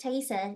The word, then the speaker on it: Taisa: mind going first great Tesa is that how is I'm pronouncing your name correctly okay great that's exactly right yep uh taisa or Tai either one works uh works with me and uh thanks so